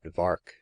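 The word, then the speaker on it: Vark: in the neighborhood that VAR was made to rhyme with shark as emblematic of the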